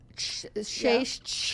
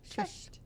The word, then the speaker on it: Cześć: Cześć, dzień dobry. Cześć. Cześć is like simple. Cześć. Cześć. You see, you're doing Hi. the mistake because you're trying to say Yes. Cześć.